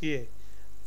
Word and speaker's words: je: Hoe gaat het met je? J is pronounced as Y in Dutch.